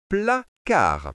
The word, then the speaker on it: placard: Je prononce les sons. P, la, ça fait plat. Car, ça fait car. On lit placard.